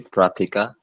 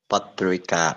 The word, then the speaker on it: Patrika: have give thanks uh am i pronouncing your name correctly pratika patrika patrika okay okay patrika it means news right